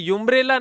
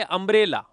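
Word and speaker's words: umbrella: क्या आएगा ए आएगा अब यह यंब्रेला नहीं है यह क्या है अंब्रेला अंब्रेला ठीक है और अंब्रेला है तो अ किस में आता है हिंदी भाषा के स्वर स्वरों में।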